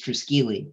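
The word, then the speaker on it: Triskele: that belongs oh yes he says tricycle bicycle it's uh it is it is triskeli right uh yes uh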